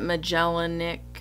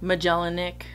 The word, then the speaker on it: Magellanic: two Canada cygnus thalassic I pronounce it magellanic magellanic yeah Magellan with an ick on the end but somebody else that's a